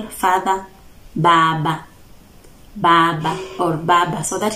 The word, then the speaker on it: Baba: The Samia, Baba. Baba or Baba. So it is B and not P.